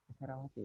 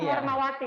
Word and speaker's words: Hermawati: Oke, ini Herawati ya. Bukan, ini Hermawati Mas.